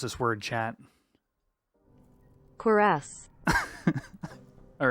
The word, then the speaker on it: Cuirass: How do you pronounce this word, chat? Cuirass.